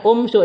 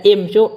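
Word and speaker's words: امشوا: Jadi kalau kurs hati-hatinya di sini, kalau imsyu ini bacanya bukan dibaca umsyu, dibaca imsyu, ikdu, irmu.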